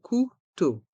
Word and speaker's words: couteau: mot fourchette la fourchette le couteau ici il y a deux sons différents le son ou ou et le son o to le couteau la cuillère on entend